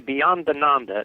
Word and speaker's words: Beyondananda: For the past 22 years, he has written and performed as Swami Beyondananda. I think I said that right. The cosmic comic. It's actually Beyondananda. It's a It's an Italian name.